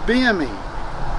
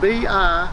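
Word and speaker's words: Bimini: They spoke of the restorative powers of the water in the mythical land of Bimi, that's spelled B-I-M-I-N-I, Bimi.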